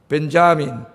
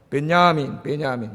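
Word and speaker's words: Benjamin: 영어로는 벤자민. 그 미국 사람들은 J를 발음을 해요. 벤자민. 근데 이제 여기 있는 사람들은 독일이나 이런 사람들은 발음 안 해요. 베냐민.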